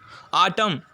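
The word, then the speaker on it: autumn: இது ஒரு சீசன் காலம் இந்த இடத்துல n வந்து தெரியாது n வந்து லாஸ்ட்ல n-ல முடியும் ஆனா n நம்ம என்ன செய்ய மாட்டோம் ப்ரொனௌன்ஸ் பண்ண மாட்டோம் அது சைலெண்ட் வச்சிட்டு ஆட்டம் காலம் அப்படின்னு சொல்லுவோம் பைனல்ல உள்ள எண் வந்து இந்த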